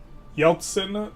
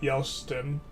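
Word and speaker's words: Yeltsin: It's Yeltson, not Yelston.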